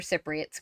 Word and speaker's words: Cypriot: I don't know if you ask most Greeks, they don't consider Cypriots Greeks. So It's Cypriot is how it's pronounced.